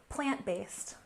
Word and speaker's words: plant-based: So let's start with plant-based. We can stress the first syllable with a subtle stress on the second syllable. Plant-based, plant-based. This is referring to foods